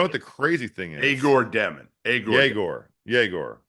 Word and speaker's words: Yegor Demin: Yegor Demin. And you know what the crazy thing is? Yegor Demin.